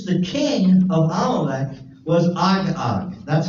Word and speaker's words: Agag: And the king of Amalek was Agag.